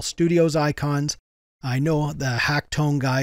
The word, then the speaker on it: h4ckton3: an LMMS user named Hacktone. I think I'm pronouncing it correctly. He spells it a little bit different, but I think it's supposed to be Hacktone.